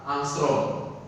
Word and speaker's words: angstrom: Nah, ini membacanya adalah angstrom.